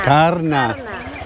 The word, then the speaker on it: Karna: Tell me the pronunciation, Karna? Karna. Karna. Yeah, thank you.